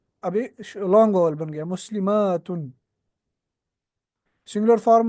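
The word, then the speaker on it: مسلمات: एंड द ता is open मुस्लिमातुन। In pronunciation, the only difference between the singular and the plural is the shortness and length of the fatha.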